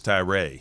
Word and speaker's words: Tyra: you yeah that's right everybody thinks it's a short a no long a don't use the academic sense why don't you say your name greg postal see it's easy postal right Vince ty Rae there you go ty